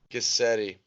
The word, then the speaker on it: Guscette: it and it's good sunny get seddie seddie kiss Eddie good deal man how you been I'm good